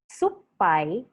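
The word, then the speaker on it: すっぱい: that means daily report supai supai means spy but suppai in the native word with the doppel consonant p means sour kata means shoulder but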